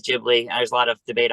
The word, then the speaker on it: Ghibli: uh or Studio Ghibli he says a Ghibli you know the correct pronounce is Ghibli there's a lot of